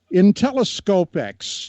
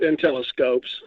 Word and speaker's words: Inteliscopx: Intelloxex, is that is that close to how you say it? I know how you spell it, but was that close? Yeah, we we call it Intellcopes.